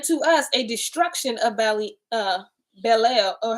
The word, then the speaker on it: Belial: Okay, and to us a destruction of Belial. Or how do you say that? Belial. It's just like Bel.